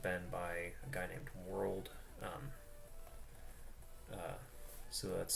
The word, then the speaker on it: WRLD: The others have been by a guy named World. So that's spelled World basically without the O, so WRLD.